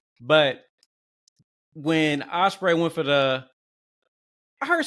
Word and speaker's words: Ospreay: call him ospre he he kept calling him like he kept saying it like like he was correcting the viewer like will opray opray so oh am I am I saying it wrong no it's ipray so you know Will's